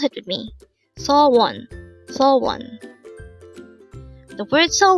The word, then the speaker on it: 소원: word number 358 saw one saw one this is pronounced as a two syllable word the first syllable is saw second syllable is one pronounce it with me saw one so one the word